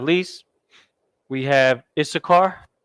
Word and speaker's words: Issachar: Last but not least, we have Issachar, which is pronounced Yash, Shah, and then Kar, so-called Mexicans. Glorious people. You understand? Yash, Shah, Kar, which is a Ka and a Ra. Always refer to the language here if you need help remember.